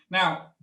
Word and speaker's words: Ngo: I'm often saying to follow one of my business partners, Peter No, spelled NGO, rather than KNOW, although he is very knowledgeable and he does know tons of stuff. But his surname is spelled NGO.